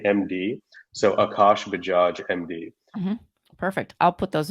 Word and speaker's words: Bajaj: See, And it's Bajaj. It's not hard to say. We just get scared. No, I get. It's not so bad. It's not so bad. Exactly. It's phonetically exactly like it looks.